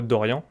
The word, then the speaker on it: Doryan: Et du coup, je suis avec toi, Dorian, si je me trompe pas.